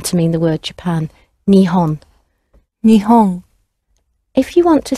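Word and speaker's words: 日本: The word for Japan is Nihon, and it comes from two words.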